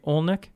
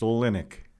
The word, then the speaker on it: Olynyk: It is August 16th, 2020, and I'm sitting across from Olynyk. Did I say that right? Close. You got the accent on the wrong syllable. It's Olynyk.